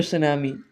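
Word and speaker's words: tsunami: इसके बाद है सुनामी कोई पढ़ ना ले टू सुनामी सॉरी कोई पढ़ ना ले मैं ये कह रहा हूं बहुत ज्यादा को होता है ऐसा बट टी साइलेंट रहता है सुनामी हम ये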